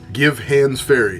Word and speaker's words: Givhans Ferry: Givhans Ferry, and we were told it is Givhans Ferry is how it's pronounced, because that was the gentleman's name that had a little ferry that went back and forth across the river. Givhans Ferry has 25 sites.